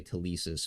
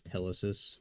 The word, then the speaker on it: Telesis: information and ultimately Telesis I like to say tesis but uh Chris pronounces it as Telesis so we're going to go with Telesis using the closed reflexive